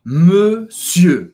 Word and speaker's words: monsieur: E não, você não vai pronunciar o R no final. Então, não é monsieur, você vai pronunciar monsieur, monsieur.